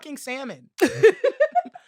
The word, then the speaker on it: salmon: possible they're like oh the L is silent so let me say